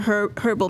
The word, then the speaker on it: herb: pad lubricants and other herbal products so they're sold online mommy it's herbal papa calm down i don't even know what she said just now herb h is silent so anyways recently they